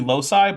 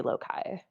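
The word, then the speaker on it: loci: genetic Loki these Jean it's usually lowai but I'm not going to get too bad too of all the things he's mispronounced that's not that bad I will say in math we say lokai Bo sorry or at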